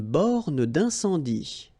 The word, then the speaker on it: borne d'incendie: Une borne d'incendie. Okay, final here not pronounced, final here not pronounced. Une borne d'incendie. And then you get the nasal. Incendie.